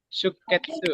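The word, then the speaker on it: 出血: sutsu sama ketsu dia tapi dia Oh, bacanya sikat. shuketsu ya.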